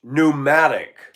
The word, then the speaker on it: pneumatic: Anything spelled with a P that you don't say the P is not good. P pneumonia, P psoriasis. And the one that kills me is when I pull parts, pneumatic tire.